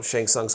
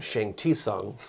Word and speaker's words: Shang Tsung: And I said, Shang Tsung's coming out. But when I did the video, I pronounced his name Shang Tsung.